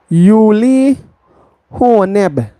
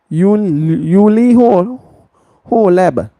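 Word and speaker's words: Uli Hoeneß: So Bayern Munich Uli HB Uli HB that's how you pronounce his name.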